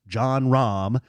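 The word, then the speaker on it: Jon Rahm: named John Rahm, and his whole name, he has 2 syllables, John Rahm.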